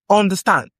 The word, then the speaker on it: understand: We have understand. Understand. Under- With the stand going up. The stress is on stand.